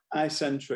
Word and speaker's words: isentra: bit about Daniel Clark and your company uh in Centra did I pronounce that right Eye Center yeah it comes from isentropic the word isentropic